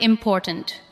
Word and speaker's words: important: Listen to the word important. Important. The second part receives the strongest beat.